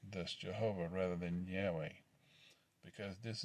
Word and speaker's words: Jehovah: u being a v the letter v is the other disputed consonant in jehovah the valve is pronounced like a v in a vehicle rights professor mark elaine